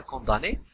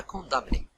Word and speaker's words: condamné: كاين اللي كينطقها كاين اللي ما كينطقهاش. صافي كاين اللي كيقراها كونداني وكاين اللي كيقراها كوندامني.